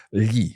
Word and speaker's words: gli: Well, with lo, that has a plural form, and it's the one that's a little tricky to pronounce. It's gli.